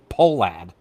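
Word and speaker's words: Pohlad: Polad. Polad.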